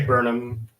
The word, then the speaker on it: Burnham: Is that how you say it, or do you prefer Burnham? I say Burnham, but you could say Burnham if you want.